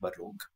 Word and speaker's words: Baroque: I would say I listen to this genre of music a lot, which is, I think it's pronounced Baroque. Baroque? Mm-hmm. Yeah, yes. Baroque.